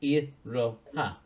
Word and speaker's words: iroha: If you take the first syllable of each one, it's iroha. And that translates to what the numbers are. So yeah, 168 is Iraha, which was the name of the character.